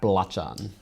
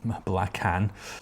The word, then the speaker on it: Belacan: But before we do that, let's take a look at Belacan.